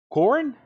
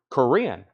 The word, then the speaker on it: Corinne: How do you say her first name? Corinne. That makes a lot more sense.